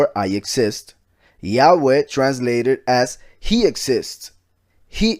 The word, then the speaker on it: Yahweh: the I, the A, the U, and the E making it, for instance, if we were to read that in Spanish, pronunciation of those letters would be Yahweh. That simple, Yahweh.